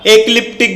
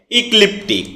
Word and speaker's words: ecliptic: এটাকে আমরা একলিপটিক বলে থাকি। যার সঠিক উচ্চারণ হচ্ছে ইকলিপটিক।